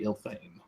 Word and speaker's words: Ilthane: The shortest common pronunciation of it, fragment, would be Ilthane. Ilthane.